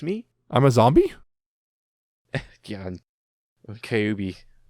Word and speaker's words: Kyubey: Kyubey. Kyubey. Kyubey. It's like Cubase, but not quite.